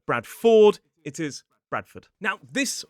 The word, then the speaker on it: Bradford: You can see that in places like Oxford, Stafford, Heraford, Bradford, Watford, and Guilford.